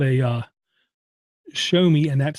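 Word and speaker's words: Xiaomi: it I want to mention it's called a show me okay if you haven't heard of show me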